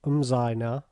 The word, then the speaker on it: Muzaina: Muzaina, generally pronounced Umzaina.